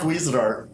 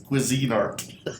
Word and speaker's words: Cuisinart: art uh cuisine art it's not cuisinart it's cuisine art exactly the funny thing is is that it really is if you think about it it's spelled that way it's spelled cuisine art but through the years we all just started calling it cuisinart like my coffee machine is a cuisinart i never think of it as cuisine art but think of this